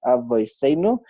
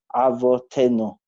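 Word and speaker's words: אבותינו: So to be in Ashkenaz it's avoseinu, and in Sfard it will be avotenu.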